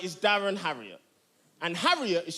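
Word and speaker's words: Harriott: Now, my name right, is Darren Harriet, and Harriet is spelled H A R I O T.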